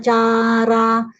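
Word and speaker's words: cārā: And also like kame, sumi, cha, chara. So the cha, chara, three of them long sound. You go long.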